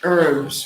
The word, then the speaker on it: herbs: So notice that the pronunciation of herbs is different in the UK and in the US. So I'll write it for you here. US pronunciation, silent H. Whereas the UK pronunciation is a pronounced H.